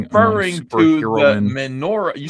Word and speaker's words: menorah: Not minora. Minora. That's like you put the word minor in there. Interesting. Not human lamps. No, you were not. Don't lie. I'm not stupid. It's menorah.